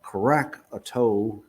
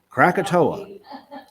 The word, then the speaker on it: Krakatoa: um in uh in 1883 and i can't pronounce it but it's uh crack a toe there you go you know about it okay all right krakatoa krakatoa engine indonesia in uh 1883.